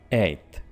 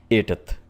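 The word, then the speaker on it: eighth: नहीं बोलेंगे ठीक है आपने इसको सिंपल सा बोलना है एथ अब आपको चीख कर बोलने की जरूरत नहीं है कि मैंने टी एच भी यहां पर प्रोनाउंस कर दिया है लाइक एथ राइट आपने ऐसे हरगिज नहीं बोलना आप सिंपली बोलिए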